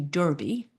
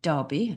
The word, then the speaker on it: Derby: went over to the Kentucky Derby uh which is how um you folks pronounce it but uh our family in England call it Derby.